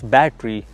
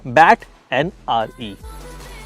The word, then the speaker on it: BattRE: This is not actually pronounced as battery. It is actually pronounced as bat and RE.